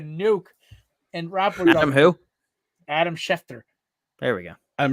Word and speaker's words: Schefter: went from being kind of dead to adam schaffner dropping a nuke and rapper who adam schefter there we go adam schefner jared has not been able to pronounce his